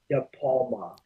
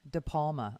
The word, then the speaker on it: De Palma: how do you say that last name again de palma de palma okay ryan de palma because what happened was